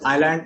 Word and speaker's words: island: Okay, so this is island and not Iceland.